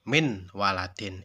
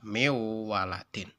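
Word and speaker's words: مِنْ وَلَدٍ: Bacanya seperti itu, tidak boleh seperti ini, min waladin, itu salah. Yang benar adalah miwaladin. Kemudian yang ketiga ada yang namanya idgham bila gunnah.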